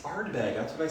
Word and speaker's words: Ardbeg: it right there mhm are you saying it right and I'm saying it wrong up there Ardbeg oh it's Ardbeg that's what I said